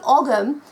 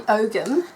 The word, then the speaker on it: Ogham: delving into it now the AUM or the ogum as I prefer to it for it to be pronounced because let's face it the AUM sounds very Oka which is very australiana um nothing wrong with